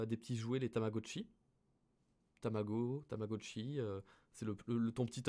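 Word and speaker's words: 卵: vous voulez vous souvenir que f ça se prononce tabago vous avez 15 juste vous rappeler des petits jouets les tamagotchi tamago tamagotchi c'est le ton petit à fatwas ton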